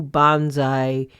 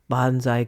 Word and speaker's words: bonsai: work on my new bonsai interest, pruning a U for my first bonsai creation. Actually, I'm mispronouncing bonsai. supposed to be bonsai, but I think everybody gets what I'm talking about.